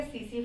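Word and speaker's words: tsetse: है और वेक्टस इसका सीसी फ्लाई सीसी फ्लाई को टी से स्टार्ट करते हैं टी इसमें साइलेंट होता है ये नर्वस सिस्टम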